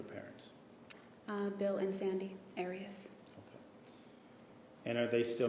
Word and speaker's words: Arias: we're talking here um your name has been pronounced most of this trial Aras is there another way of pronouncing it if you always pronounced it Aras I've heard it pronounced about seven different ways um I say Aras as does the rest of my family okay well let's back